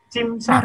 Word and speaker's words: CIMSA: Nah, inilah tentunya permasalahan bangsa tadi, apalagi saya membaca dari panitia misinya apa, CIMSA ya, saya membacanya CIMSA ya, benar atau salah? CIMSA benar, Pak.